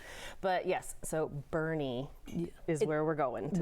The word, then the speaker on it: Boerne: flight delays first Tori let's start with a pronunciation lesson because you hear all kinds of things I'm going to Bourne Texas I'm going to bouret bouret would be French this is german yes